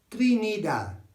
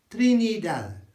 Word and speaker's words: Trinidad: Same word, but they say Trinidad. Trinidad.